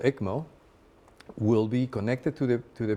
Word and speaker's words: ECMO: And what is an EMCO procedure? Am I pronouncing that right? The ECMO. ECMO. The ECMO.